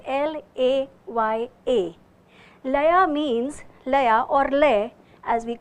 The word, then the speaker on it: laya: my friends in kathak our speed is called lei it is spelled as l a y a laya means as we